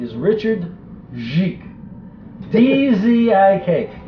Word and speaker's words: Dzik: And part of the fun I had with this one is the guy's name is Richard Dzik. D-Z-I-K. It is pronounced in Polish nothing like it's spelled.